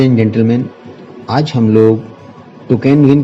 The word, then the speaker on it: Toucan: ये बेसिकली एक बहुत ही कलरफुल और लकी बर्ड मानी जाती है और इसमें यू साइलेंट रहता है, इसलिए इसको टोकन बोला जाता है।